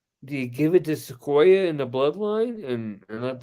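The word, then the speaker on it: Sikoa: I don't even see Solo Sequoia or Sequoia. How do you say it? Sequoia? Sokoa. Sokoa.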